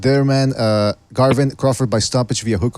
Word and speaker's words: Garvin: that carving yeah Garvin g-a-r-v-i-n all right that's interesting I've never heard that name before it's like Marvin but with a G Garvin okay with that g